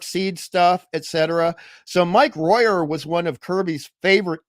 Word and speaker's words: Royer: Mike Royer, sometimes pronounced Royer, but I think it's Royer.